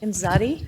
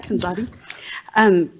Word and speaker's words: Kanzadi: Mr. Kanzadi, is that how you say it? Kanzadi, yeah. Kanzadi.